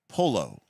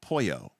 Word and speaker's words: Polo: Or was it number 5, Polo, sometimes pronounced Poyo, the mutant hybrid avian bird person?